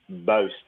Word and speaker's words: Buist: Yeah, we've heard so many different pronunciations of it. It just went with what felt right. Sometimes it's Buist, sometimes it's Boost.